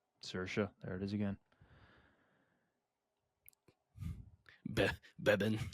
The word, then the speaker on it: Saoirse: I think it's pronounced Saoirse. Who played Saoirse? You're talking about like not Saoirse Ronan. That's how we pronounce it. It's Saoirse Ronan.